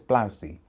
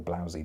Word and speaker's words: Blousy: make out the name it's blousey or blousey depending on how you pronounce it and it's part